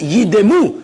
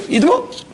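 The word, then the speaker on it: יִדְּמוּ: And therefore you must pronounce it yidemu, shvana, yidemu.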